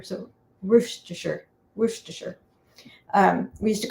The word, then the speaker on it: Worcestershire: the city but um when it's in a word like the sauce it's kind of sure so sure worcestershire um we used to